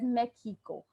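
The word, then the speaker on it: México: india espana espana okay now mexico is said as mexico mexico okay so this three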